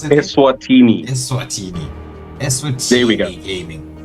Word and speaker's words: Eswatini: How do you pronounce it? Eswatini.